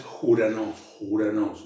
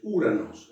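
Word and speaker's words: Οὐρανός: ¿Se acuerdan que dijimos que el diptongo Omicron Y se pronuncia U? Entonces, Uranos, que es un diptongo, el espíritu áspero o suave, en este caso es un espíritu suave, no es Juranos, no, es Uranos, un espíritu suave, pero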